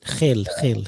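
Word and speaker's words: Gil: Is that the way you pronounce it? Hill, yeah.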